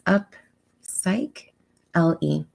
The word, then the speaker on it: Upsychelly: It sounds like upcycling without the NG. And so you see it's Upsychelly.